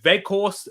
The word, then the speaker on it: Weghorst: Because in the Dutch, the W's are pronounced as V's, aren't they, Ed? Yes, they are. So it's Wout Weghorst.